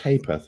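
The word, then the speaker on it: ha'p'orth: But I think it's pronounced Hapath. It is like a halfpenny.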